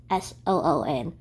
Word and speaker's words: Sun: She also gave me a name, Soon. It's spelled S-U-N, but it's pronounced S-O-O-N, Soon, which loosely means full of goodness.